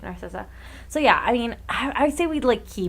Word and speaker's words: Narcissa: Yeah, you said it right, Narcissa.